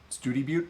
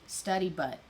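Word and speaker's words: Study Butte: I think it's study butt. Well, no, Study Butt is what you say if you're not from Texas. Oh. Studi Butte. Yeah, it's pronounced. It is spelled Study Butt, but it's Studi Butte.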